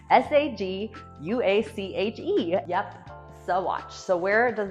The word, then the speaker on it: Saguache: a very American fashion, they morphed that word, pronunciation of it anyways, into Saguache.